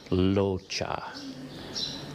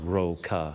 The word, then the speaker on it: Rocha: a thai name and it's not pronounced with an r sound it actually has more of an l sound so it's more like locha so it's not roca at all in fact